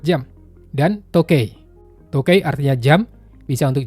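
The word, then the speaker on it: 時計: Di atas kan tulisannya toki ya. Tapi ini bacanya cuma to aja. Karena dia termasuk cara baca khusus. Jadi ngafalinnya harus dipisah. Kanji ini bacanya tokei, artinya jam.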